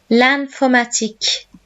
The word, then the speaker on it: l'informatique: L'informatique. So notice in French, IN is pronounced like AN.